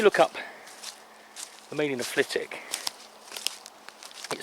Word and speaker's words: Flitwick: my place names book when you look up flitik by the way don't ever come here and pronounce it flitwick they'll put you in the